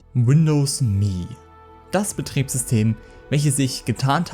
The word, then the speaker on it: Me: Dabei sagt Microsoft selber, zumindest laut einer offiziellen Webseite und dem Marketing so drum und dran, dass es wirklich Windows Me, also halt vom englischen Milch, ausgesprochen wird.